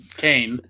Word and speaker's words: Caine: kade kane kate kane kane as in code yeah like cane like cocaine or cane as like cain and abel uh lawson and his